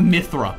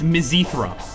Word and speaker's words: mizithra: and it's like like cheese on it not Mithra it's mizithra mizithra I think is how you're supposed to pronounce it it's like if it was weird